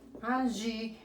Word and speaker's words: Angie: Angie, c'est comme ça. Angie. Yo no pronuncio la E. Acordémonos que la E, no suena la E, si no va con acento, no puede sonar. Entonces, yo llego hasta la I.